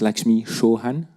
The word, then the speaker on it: Lakshmi Chauhan: I think we pronounce Lakshmi Chauhan. Is that correct? Yes.